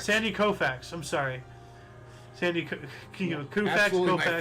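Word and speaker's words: Koufax: the USSR 1966 Los Angeles Dodgers pitcher Sandy kfax won his 27th game of the season 6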